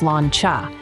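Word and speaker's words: sláinte: go-to when clinking glasses in the pub it's pronounced slancha and it's akin to saying cheers Divine it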